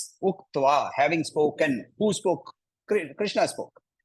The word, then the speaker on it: Krishna: letters I am a so don't eat up Krishna so Krishna should not be eaten up he you have to pronounce all the USS wherever they come right people with North